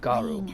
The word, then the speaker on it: Garou: Garou. Okay, so that's how you Believe pronounce it.